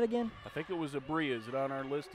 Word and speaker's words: Abria: I think it was Abria. Is it on our list of pronunciations? Abria, there it is. Yep, Abria.